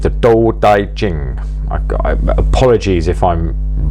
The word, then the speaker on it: Tao Te Ching: drinks down there uh the door daijin that's how I believe it to be pronounced although it's written with a t um in some translations